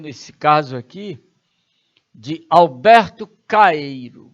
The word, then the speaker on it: Caeiro: Calheiro cuidar cuidado né não é caieiro não como algumas pessoas pronuncia Alberto Caeiro é interessante que eu